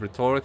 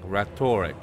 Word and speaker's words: rhetoric: I have already 100 rhetoric, so I'm not. You cannot get more than 100 rhetoric. Sorry. I've been keeping saying this wrong. Rhetoric. It's rhetoric. That's how you pronounce that word.